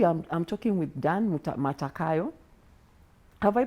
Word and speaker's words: Matakayia: so today we are i'm talking with dan matakayo have i pronounced your name correctly dan matakaya mata kaya dan matakaya then you're very welcome to the